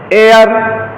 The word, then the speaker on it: heir: तो ऑनर, और honourable, हेयर, जैसे हेयर पढ़े तैसे गलत, क्यों, एच को क्या करना था, साइलेंट। क्या पढ़ोगे, ऑनर और एयर, समझ में आया।